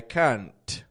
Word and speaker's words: can't: I can't you know you're making too strong of a t it's not your fault you know you're pronouncing the word as it's spelled it's just not what they're listening for what they're listening for is I can't or I can I can let's see